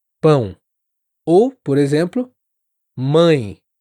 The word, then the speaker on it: mãe: Bom, hum, todas essas palavras t uma vibração que acontece aqui, ó, perto do nariz. E muitos falantes em inglês acabam pronunciando esses sons eh de forma mais oral, sem essa nasalização.